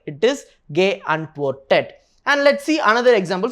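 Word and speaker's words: geantwortet: So if you are going to add another t, then it is not going to be pronounced properly, right? But if you are going to add another e before the t, then it will be complete. See, ge antwortet. So how the pronunciation will be? Ge antwortet. That sounds complete, right?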